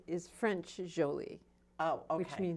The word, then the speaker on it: Jolie: on her bed it's her name is Jo li e but it's actually Jo Li okay well you can